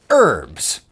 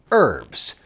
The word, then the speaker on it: herbs: may be wondering hey why do you yanks not pronounce the h in herbs well i suppose we